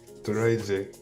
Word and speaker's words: Turaije: Did I say it right? Nah, Turaije. Turaije.